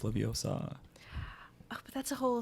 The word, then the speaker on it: Leviosa: There's the one where she goes, it's not pronounced Leviosa, it's pronounced Leviosa.